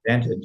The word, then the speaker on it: Vantage: And today we have a great guest, Everett Berry from Vantage, right? Or did I pronounce it right? Vantage.